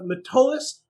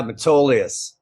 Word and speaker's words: Metolius: We have John Freeze, the co-founder and president of Metolius Hemp Company. John, did I pronounce that right? Yeah, Metolius.